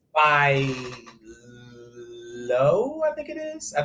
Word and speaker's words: Loewe: And it's by Loewe, I think it is. I think that's how you pronounce it. Loewe. Who? That's Loewe.